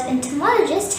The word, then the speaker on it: entomologist: is entomological the word entomologist has five syllables and tur maul a gist the stress is on the third syllable mall and there are two schwa in this world therefore the correct pronunciation will be entomologist repeat after me enter